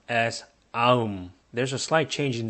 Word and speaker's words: 아음: In Goryeo language, which is a later dynasty a few hundred years later than Goguryeo, it was pronounced as aum.